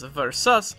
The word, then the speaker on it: Versus: like Ver and Veri, the Italian C has been softened into a more English C, so it sounds like an S. So it is more accurate to pronounce his name as Versus or Verisus.